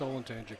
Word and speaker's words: Olentangy: They pronounced Olanti correct.